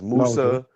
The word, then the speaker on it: Musa: Um you know yeah Jacob uh we refer to Musa as Moses as Musa.